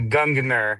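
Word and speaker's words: Gungnir: And say again, how do you pronounce the name of your company? Your publishing company. It's a Gungner.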